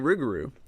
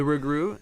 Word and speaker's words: rougarou: The loup-garou and rougarou words rhyme with each other because rougarou is a variant of French loup-garou.